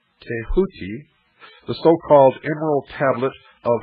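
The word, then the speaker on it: Djehuty: scribe of the gods Thoth pronounced a hooky the so-called Emerald Tablet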